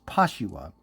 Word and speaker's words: Pashua: But for you guys, I'm just showing you how you would actually say the name. So this character's name that I gave her is Pashua.